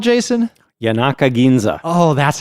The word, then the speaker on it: Yanaka Ginza: Yanaka Ginza.